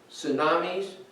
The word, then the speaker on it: tsunami: We've seen more of storms, hurricanes, earthquakes, tsunamis. I didn't even know what TS meant. I thought that was tsunami. I tried to pronounce the T and I found out, no, shh, silent T.